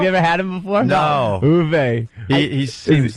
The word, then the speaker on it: Uwe: How do you say, Uwe or UV? Uwe Boll.